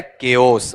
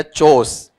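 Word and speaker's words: chaos: इसका उच्चारण होता है केओस। बताओ क्या होता है? केओस। आपने उच्चारण दिया चोस। ठीक है? कोई बोलेगा चाओस।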